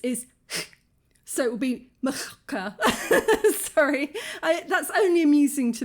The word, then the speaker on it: Majorca: 2 ways to spell Majorca. There's the J, which is a sort of a y sound, I think, in Spanish.